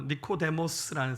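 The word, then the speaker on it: Νικόδημος: 헬라시 발음으로 니코데모스라는 사람인데 이름 뜻은 승리한 백성, 백성의 정복자.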